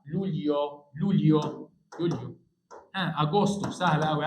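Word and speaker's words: Luglio: شهر ست ش العظماء هنا الجي وراء الاي ما بتتقري يبقى اسمها لوليو لوليو يوليو اغسطس سهله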